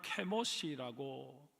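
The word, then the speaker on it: כמוש: 그러나 혈통만 그랬을 뿐이고 오랜 세월이 흘러오는 동안 모압은 하나님을 버리고 그 모습, 히브리 원어 발음으로는 케모시라고 부르는 전쟁의 신을 섬기고 있었습니다.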